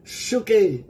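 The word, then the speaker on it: ψυχή: soul I have life soul in greek is zuke no Ang spelling ay PS Uh u C ah ang anoya su ano pero suke suke ang pronounce diyan sa Greek it means natural life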